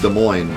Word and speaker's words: Des Moines: out of it it's pronounced des moines but i'm pretty much going to say these moines forever now that's my new